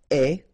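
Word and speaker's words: aie: and avoir will become est, remember the final E is not pronounced, so you only have this A-I sound, est, okay, est, ayons,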